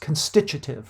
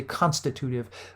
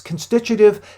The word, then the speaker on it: constitutive: what we call and this word is properly pronounced constitutive right some people would say constitutive but it's constitutive and these constitutive rules are really emergent rules